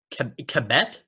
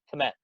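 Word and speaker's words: Kmet: is how you say his name that's cool commit yep commit this his name km et commit commit okay yeah he's a bear now right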